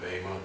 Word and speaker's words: Bema: And this is the judgment that is called the Bema, or sometimes pronounced Bema.